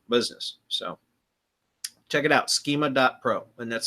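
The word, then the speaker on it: Skema.pro: But it's schema dot Pro. And it's spelled instead of the way that schema is really spelled he spells it's SK II ma dot Pro.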